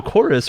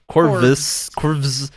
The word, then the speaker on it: Chorus: So Chorus, we all saw at E3 a while ago. Corvus. It's called Chorus. The name is Chorus, but they spell it with a V for some reason in the title, which I don't get.